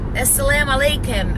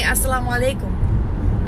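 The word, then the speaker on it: السلام عليكم: say s Salaam alaikum this is how Americans say it as-salaam alaikum I don't say it like that I say assalamualaikum I try to say I try to speak Arabic with the Arabic accent so I tried to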